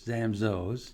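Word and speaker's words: Zamzow's: our name zamzos and you pronounce our name zamzaos oh am i doing it wrong well you know there's really there's really no wrong the the proper way is zamzos okay that's why we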